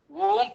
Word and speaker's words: ஓம்: வேண்டும் என்கிறது நல்ல கவனிங்க ஓங்கார மந்திரம் மூன்று மாத்திரை கால அளவில் உச்சரிக்க வேண்டும் என்கிறது மூன்று மாத்திரைனா ஒரு மாத்திரைனா ரொம்ப இம் இருக்கு பாத்தீங்களா அந்த இம்ம ஒட்டி ஒரு மாத்திரை அப்ப மூணு மாத்திரைனா லேசாதான் ஓம் சொல்லணும்ங்கறாங்க இந்த ஏன் காரணம்னு கேட்டீங்கன்னா